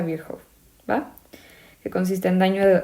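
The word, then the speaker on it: Virchow: como tríada de viejo ya sé que dice se pronuncia viejo va que consiste en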